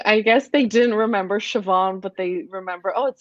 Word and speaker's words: Siobhan: my name, but they didn't know how to pronounce it. So they asked my coach once, and my coach said Siobhan, but I guess it didn't stick with them.